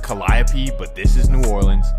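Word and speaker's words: Calliope: And that takes us to the famous Calio projects. And again, it's supposed to be pronounced Collapi, but this is New Orleans.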